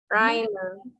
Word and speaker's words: rhyme: Rhyme. Rhyme. Rhyme.